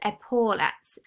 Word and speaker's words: epaulettes: So we're thinking of this word, epaulettes, and it's a three-syllable word, epaulettes, and it's a noun too, it's a thing.